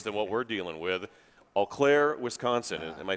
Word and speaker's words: Eau Claire: a lot worse than what we're dealing with eau claire wisconsin am i pronouncing that right that's right okay my mom